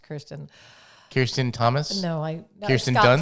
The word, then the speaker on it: Kirsten: Kristen. And I bet she's going to say no. It's pronounced Kirsten.